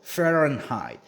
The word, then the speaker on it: Fahrenheit: 이거 height이라고 읽으면 안 되고 height이라고 읽어야 돼요. Fahrenheit.